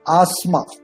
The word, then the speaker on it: asthma: This is asthma. TH is silent here. Asthma.